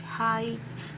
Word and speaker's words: high: of g and h high g and h are silent at the middle of the word like this these are